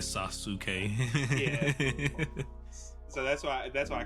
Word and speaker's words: Sasuke: Yeah, because technically Sasuke is not Sasuke would not be pronounced how it is in English, like because of the U. But hey, yeah, it would be more like Sasuke.